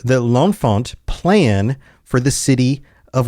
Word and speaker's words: L'Enfant: And I don't know if it's supposed to be pronounced with a French accent or if it's Americanized like L'Enfant. But L'Enfant sounds better than L'Enfant, so we're going to go with that.